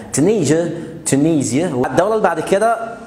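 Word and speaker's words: Tunisia: عندنا كمان تونس، تونيزيا او تونيزيا. اغلب الكلمات في الانجليش اللي فيها اس اي اي، عشان هدي هتيجي تاني معانا في الفيديو، ممكن تقولها زيا او جا جا. تونيزيا، تونيزيا.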